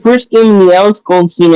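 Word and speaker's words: Golesh: So, Well, it's the first game in the Alex Goldstein era, or Goldstein, or how you say his name. Alex Golish. Golish, right? Mm-hmm.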